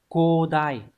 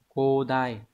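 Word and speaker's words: 広大: và chữ đại từ này đọc là codai codai khi mà nhắc đến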